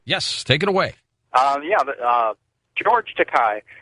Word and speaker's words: Takei: George Takei. Pronounced Takei.